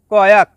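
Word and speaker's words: koyak: Number 15, কয়া, যার বাংলা অর্থ ছিঁড়ে যাওয়া। শব্দটি লেখার ক্ষেত্রে লেখা হয় কয়াক, তবে এর সঠিক উচ্চারণ হবে কয়া।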